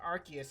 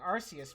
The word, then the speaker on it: Arceus: i think um well i know it's pronounced it's pronounced arceus officially right but i like arceus better almost feels like uh rcs